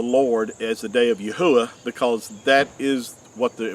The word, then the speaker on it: Yahweh: the Creator which is Yahweh which is which is the correct way to pronounce the four Hebrew letters of our Creator's name and it's been substituted